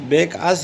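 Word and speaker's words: Bacchus: One day he was visited by Becas. Pronounce मतलब है कि इसका तलफ़ुज़ बेकास, ये इस तरह इसका तलफ़ुज़ हम इस तरह करते हैं.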